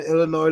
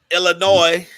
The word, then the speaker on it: Illinois: up in their head illinois illinois is illinois yeah they're at home either way that was the problem everybody was adding to s the s is silent no that means django